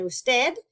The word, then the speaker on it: usted: As you might have noticed, usted and ustedes are very often abbreviated to capital U, lowercase d period, and capital U, des period. Okay, still going to be pronounced usted and ustedes.